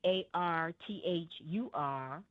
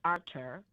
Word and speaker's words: Arthur: He's a Frenchman and his it's spelled A R T H U R. But they pronounce it as in French, Arthur.